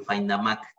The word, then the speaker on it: Faindamaq: Que lo puedan pronunciar tal cual se escribe, FindAMac.